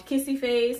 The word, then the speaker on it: kissyfvce: naked sunday toys um kissy face on instagram kissy face the a is spelled like the a is a v so it's k-i-s-s-y f-v-c-e um jamaican bae but